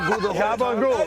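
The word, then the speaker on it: gabagool: Gabul. Gabul. I know it doesn't look like it's spelled that way, but that's how it is. That's the Gabul. Cabul.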